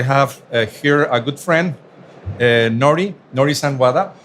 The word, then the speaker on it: Norihisa: And today I'm very glad because I have here a good friend, Norihisa Wada. Norihisa, the pronunciation is correct, Nori?